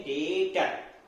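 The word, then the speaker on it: debtor: Account में डेब्टर में B silent होता है, बी की आवाज नहीं आती, इसलिए सिर्फ बोल देते हैं डेटर और क्रेडिटर।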